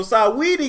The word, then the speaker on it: Saweetie: So Saweetie got dragged and ended up shading Nikki Dragun.